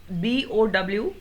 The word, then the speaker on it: bow: Many times children speak B-O-W as bow. अगर इसको cow और bow बोलेंगे तो it is not rhyming. But the verb form of this word, cow and bow, they are rhyming words.